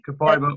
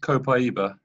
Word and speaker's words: Copaiba: There's two ways to say it. Yeah, she, Kabiba or Copaiba. Copaiba is the native way of saying it.